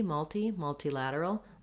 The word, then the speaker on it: multilateral: In both of those, multilateral, I do tend to use that aspirated T, multilateral. It would be strange to use a flap. And we have a little bit of secondary stress here on the mul syllable.